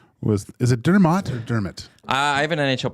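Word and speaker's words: Dermott: here and let's see what it says Travis dermit dermit dermit Travis dermit why do they spell it like that then that's that's Well Jack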